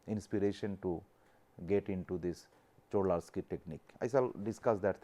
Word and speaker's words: Czochralski: is known as the Czochralski technique. What is the pronunciation, the pronunciation is the CHO-HRAL-skee; that means, this the pronunciation of this is Czochralski cho ral skee, C H O H R A L hral s k ee.